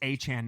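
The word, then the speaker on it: Achane: Hey, it's Achan now.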